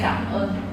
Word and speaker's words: cảm ơn: But you can say cảm ơn.